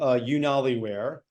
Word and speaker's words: UnaliWear: So the company is called UnaliWear. I'll explain what that means in a second, but it's spelled, I'm sure it'll be in the copy.